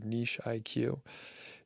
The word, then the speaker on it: Niche IQ: There's the Niche IQ or Niche IQ, if you pronounce it correctly.